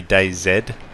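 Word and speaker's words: DayZ: is why I say day Zed I say it that way because a lot of people in England Canada Australia say it that way it's really the Americans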